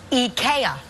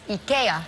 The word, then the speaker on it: IKEA: Oh, and I guess that's the way the Swedish market people would say it. IKEA. IKEA. So from now on, when you go to IKEA, just you know should